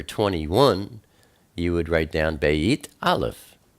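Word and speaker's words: בית: you would write down Beit Aleph, 2 and 1. Beit is pronounced like a B, such as baby. It's sometimes pronounced like a V, as in victory.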